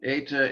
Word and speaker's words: eta: compare it with um eta is like feta fate is that an